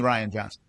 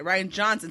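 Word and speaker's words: Rian Johnson: Ryan is not a weird name. It's spelled weird, so I wasn't ever Yeah, sure. it's still, but it's Ryan. It's Ryan. definitely Ryan Johnson. Yeah. Okay, Ryan Johnson.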